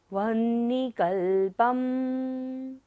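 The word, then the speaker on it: वह्निकल्पं: वही नहीं पढ़ना है, वह्निकल्पम। पा पर बिंदी है और बाद में क्या है, कुछ भी वर्ड नहीं है, लास्ट फर्स्ट लाइन का लास्ट वर्ड है, तो बिंदी का उच्चारण क्या होगा, म।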